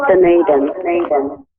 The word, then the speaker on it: Dunedin: Did I pronounce that correctly? Otago, New Zealand. What is it? Dunedin? That's close enough, Dunedin.